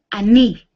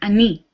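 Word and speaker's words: אני: Is ani. I in Hebrew is ani. And we spell that Aleph, Nun, Yud.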